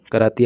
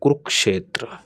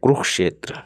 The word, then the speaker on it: कुरुक्षेत्र: हरियाणा सरकार कराती आयोजन, और कुरुक्षेत्र विकास बोर्ड, कुरु नहीं यार, कुरुक्षेत्र, कुरुक्षेत्र गलत तरीके से उच्चारण, कुरुक्षेत्र।